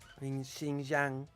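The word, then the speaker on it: Xinjiang: with it Muslim population Shing Jang that's how you pronounce it like that's what's China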